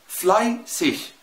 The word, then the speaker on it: fleißig: أو wichtig أو fleißig. شايف الإي جه في الآخر؟ شين خفيفة خالص زي وكأنها سيها، يعني